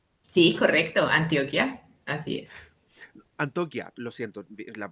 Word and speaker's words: Antioquia: Antioquia. Lo siento. La pronunciación, ¿viste?